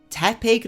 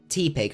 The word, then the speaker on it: Tepig: It's Tepig, not T-Pig.